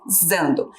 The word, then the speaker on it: usando: Usando. Tem um S ali com som de Z, mas o importante era a gente pensar ali no finalzinho da palavra, que ela termina com NDO.